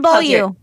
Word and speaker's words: Beaulieu: But well, it's not below. I know it's not below. Oh, Lauren Beaulieu. Beaulieu.